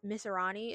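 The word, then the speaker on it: Masrani: But after that, we are introduced to Mr. Misirani, is how they pronounce it.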